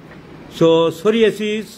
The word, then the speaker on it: psoriasis: সোরিয়াসিসের পি উচ্চারণ হয় না, যেমন নিউমোনিয়ার, যেমন হোমিওপ্যাথিতে সোরা, এগুলোর পি উচ্চারণ হয় না। সো সোরিয়াসিস, PSORIASIS, সোরিয়াসিস। প্রথম কথা লিখতে হবে ডিউরেশন,